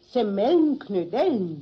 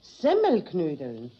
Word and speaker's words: Semmelknödeln: Jetzt hast du nämlich gerade gesagt, Semmelnknödeln. Ist recht, Semmelnknödeln. Nein. Richtig muss es eigentlich heißen, Semmelknödeln. Die Semmel muss man dabei betonen, weil doch die Knödel aus Semmel gemacht sind.